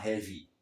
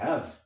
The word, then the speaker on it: have: aqui, por exemplo, have, verbos terminados em E em inglês, o E não é pronunciado. Então a gente não fala heavy. Heavy se escreve H-E-A-V-Y. É o adjetivo pesado, heavy. Se você disser have, isso é o verbo, ter.